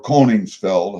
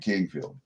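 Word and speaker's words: Koenigsfeld: my mother's side or conings Feld however you want say it k o e n i GS F L D Kix Feld Kingfield we always pronounce it Kingfield because that's what it translates to anyway my cousin Cindy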